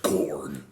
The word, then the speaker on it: Korn: Um, getting back to the point, I think we're Oh, so it's pronounced corn. Corn.